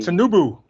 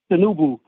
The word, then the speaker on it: Tinubu: How do you pronounce his name? Tinubu. Tinubu.